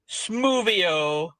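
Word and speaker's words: smwddio: There's actually microon, which is a bit disappointing, but I have just found out that ironing in Welsh is this, which is pronounced smoothio.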